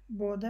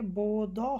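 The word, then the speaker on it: båda: অ হিসেবে উচ্চারণ হবে, কিন্তু এখানে আবার এসে বোদ হবে না, এখানে হবে বোদা, মানে এখানে আ হিসেবে উচ্চারণ হচ্ছে।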